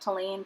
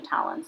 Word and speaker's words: Tallinn: Tallinn and it's Tallinn I think we kept pronouncing it to lean but I think it's actually Talent so we were in